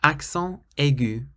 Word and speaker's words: accent aigu: Accent aigu. Or if you say it fast, you pronounce the T.